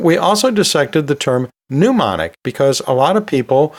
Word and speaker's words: pneumonic: So yeah, they are somewhat similar, and they both have a silent letter at the beginning, so I think that's why they're so often confused, but they are two different terms.